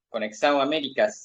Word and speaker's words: Conexão Américas: Él es analista, ingeniero, coadministrador de Conexão Américas, así se pronuncia, y nos va a estar explicando un